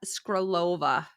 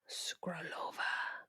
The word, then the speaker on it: Skrlova: Today, she is going to tell us about Barbora Skrlova. Skrlova. I will mispronounce that. I'm not sorry about it, but it's Czech. Her last name's Czech, so it's a little difficult. I've been watching Skrlova.